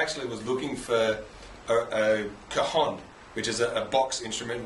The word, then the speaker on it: cajon: come from it's not a lot of people pronounced as cage on four different things kaeun different things like that but really the Spanish pronunciation is kahan so let's how you pronounce it so car